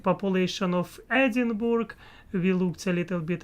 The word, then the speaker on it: Edinburgh: I was pronouncing in my lovely Russian way. Edinburgh. That's how this word must be pronounced in my mind, at least. And anyway, it's not right, as I see. In English, it is different.